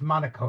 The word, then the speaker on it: Monaco: indendent country FR France France yes France it's pronounced Monaco in English Monaco okay fine and then uh